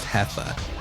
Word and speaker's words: Jefa: She battles with her friend Heffa, I think her name is, Jefa, pronounced Heffa.